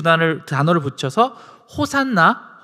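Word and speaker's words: הושענא: 구원하다라고 하는 단어 야샤라고 하는 단어가 있는데 그 단어와 간절히 구하다라고 하는 아나라는 그 두 단을 단어를 붙여서 호산나 어 뭐 히브리어 발음을 하면 호샤나에 가까운데요.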